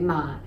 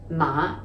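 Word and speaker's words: 馬: m a ma right ma in cantonese this is pronounced ma the low rising ma and it means horse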